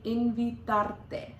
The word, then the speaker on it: invitarte: There's a little bit of a roll on the R there in invitarte.